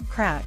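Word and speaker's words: craic: a few there's crack pronounced crack as in what's the crack what's going on and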